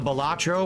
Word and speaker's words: Balatro: encode more quickly um the balatro or batro that I recorded tonight batro no you said it you said it right the first time God batro is correct the podcast was great